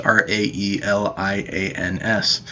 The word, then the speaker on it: Raelians: There were even UFO religions like the Raelians, I think it's how it's pronounced, Raelians, who reinterpreted biblical passages about